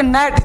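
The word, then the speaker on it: gnat: अब एन से पहले जी देखो आ जाएगा, अब यहां पे नेट, जी नेट नहीं बोलेंगे, रेन, रेजन नहीं बोलेंगे,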